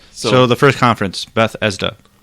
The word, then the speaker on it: Bethesda: first conference that started Beth esda that's the only way could say it properly Bethesda Bethesda Bethesda Beth Bethesda Bethesda Bethesda right Bethesda yeah Beth E there's no F in there I'm not saying F